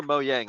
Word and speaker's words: Mojang: the nice things about is it Mojang or moyang I've heard it pronounced both ways before I like moang I don't think it matters Mojang yeah sorry sweds for all of you uh Swedish people out there I'm gonna pronounce it incorrectly um Mojang's super cool